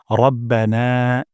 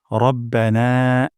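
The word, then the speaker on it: رَبَّنَا: প্রথম শব্দটি হলো রব্বানা এখানে র মোটা করে উচ্চারণ করব না এখানে এক আলিফ পরিমাণ মাত করব রব্বানা রব্বানা তারপর ওয়ালাকাল ওয়ালাকাল হামদ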